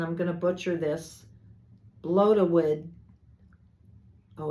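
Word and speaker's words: Blodeuwedd: It says, the owl known as, and I'm going to butcher this, Blodawid. Oh, it says pronounce Blodawith, meaning flower face.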